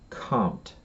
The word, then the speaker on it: Comte: All right, there's another writer, a French writer by the name of Auguste Comte, right? And so Auguste Comte, Auguste, Auguste, Auguste, and then the last name is pronounced Comte, and it's Comte, Auguste Comte, Comte.